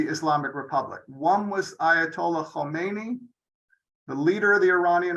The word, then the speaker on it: Khamenei: And right there, I want everyone to get the difference in pronunciation. Khomeini does not equal Khamenei, and that'll be one of the test questions at the end.